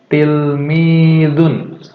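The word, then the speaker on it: تلميذ: Ini mufradat yang pertama adalah tilmidun. Semuanya mungkin bisa sambil melihat pelafalan Bapak ya, bagaimana mulut Bapak mengucapkan tilmidun.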